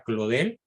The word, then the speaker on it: Claudel: blog escribe león bla paul claudel se escribe claudel se pronuncia claude el charles péguy yoris karl